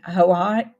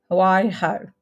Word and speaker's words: Hawaii: Well, Holly's here and Debbie is in Hawaii. Hawaii. Okay. Can't call it. Hawaiiho. No, it's not pronounced like that.